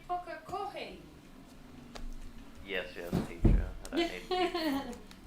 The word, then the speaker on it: Pukekohe: He was calling it Puki Hoki. He couldn't pronounce it. It's going Puki Hiku or something. I was like, what? I dare say I would be the same with half of your places over in New Zealand. Coca-Cola. Pukekohe, yeah. It's actually Pukekohe.